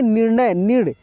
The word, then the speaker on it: निर्णय: इसको हम लोग पढ़ेंगे निर्णय देखिए की के बाद आर का उच्चारण हो रहा है तो यह रेप हो जाएगा और तेजी में हो रहा है ठीक है ना निर्णय या निर्णय तो